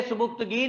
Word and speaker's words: सुबुक्तगीन: उसने कहा यहां पे एक मुसलमान बादशाह की हुकूमत है राजा साहब, हिज नेम इज सुबुक्तगीन। जी, बोलेंगे सुबुक्तगीन, लिखेंगे सुबिक्तिगिन, याद रख लें स्पेलिंग के लिए इसके, सुबिक्तिगिन।